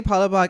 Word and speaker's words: Palabok: To say Palabok is Palabok.